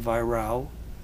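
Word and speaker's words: Weyrauch: Adio by Virao, spelled W-E-Y-R-A-U-C-H, but pronounced in German, Virao.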